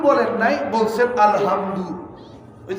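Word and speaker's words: الحمد: আর আপনি আলহামদু বলেন নাই, বলছেন আলহামদু। ওই যে আমরা কয় না আলহামদু, এটার অর্থ হলো কি জানেন? সকল দুর্বলতা আল্লাহ। কনা নাউজুবিল্লাহ। খালি একটু উচ্চারণের ব্যবধান, আলহামদু আর আলহামদু।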